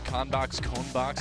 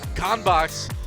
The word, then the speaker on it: CONBOX: In English, it's CONBOX. because it's like contents box.